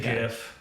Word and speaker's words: GIF: think the inventor said it's GIF, but he might just be some sort of troll. Because Yeah, no, it doesn't matter. I'm sorry. yeah, I mean phonetically, it's a G. It's a hard G, like in the English language.